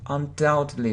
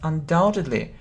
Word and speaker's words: undoubtedly: mispronounce this word undoubted undoubtedly so we don't pronounce b so it's like doubt so we we don't pronounce b so this letter is silent and undoubtedly so it means without